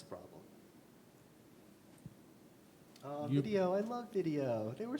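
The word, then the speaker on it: Vidyo: pronounced it vi vi video with a Y he says it's pronounced video It's pronounced the same but it just it just looks cooler I'm like yeah but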